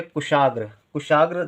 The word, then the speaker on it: कुशाग्र: लेते हैं लिखेंगे कुशाग्र जब हम लिखते हैं बोलते हैं तो कू का में यू का यू का उच्चारण होता है काका के साथ ता के साथ यू का उच्चारण होता है लेकिन कम समय के लिए होता है जब कम समय के लिए होता है तो हम छोटे यू की मात्रा लिखेंगे सा के साथ बड़े